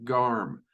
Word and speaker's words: Garm: my pronunciation, and his name means growl. Yes, Garm, which is indeed the guardian of Helheim, much the same way that Cerberus is the guardian of Hades.